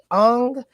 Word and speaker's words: Engh: His name is Paul Ung. It's spelled ENGH.